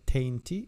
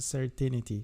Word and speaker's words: certainty: speculating with less certainty it's not said tainty it is a certainty so be careful of the pronunciation and before i start